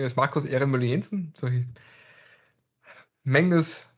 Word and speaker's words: Ehrenmüller-Jensen: thank you very much my name is marcus irene mullinson so magnus pronounced my name much better than i can